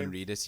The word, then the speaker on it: Norman Reedus: Norman Reedus, yeah.